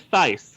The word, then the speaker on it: Theis: Because I think it's supposed to sound like thigh. Yeah, they make that joke at one point. Yeah. Yeah. So, The Eye of Argon by Jim Theis, misted by Adam Cadre.